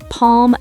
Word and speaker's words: palm: Yeah, words like calm, palm, salmon, the L is silent.